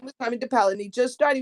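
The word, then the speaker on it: Tomie dePaola: His name's Tommy DePaola. That's how we pronounce it.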